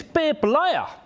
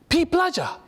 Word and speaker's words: Peep Laja: a party of say hi my name is babe liya here's my card they read the card and say oh p playa i just told you how to pronounce my name but sure since i